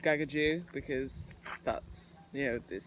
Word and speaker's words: Gagudju: name and he's actually just told us that kakadu should be called Gagaku because that's you know there's going to be